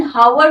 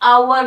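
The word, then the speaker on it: hour: लेकिन यहां एच की प्रोनाउंसिएशन हावर नहीं होती, आवर होती है।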